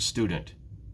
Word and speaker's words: student: How many syllables in the word student? Think about it for a minute. There are 2. Student. Now, which one is stressed? Student. It's the first syllable.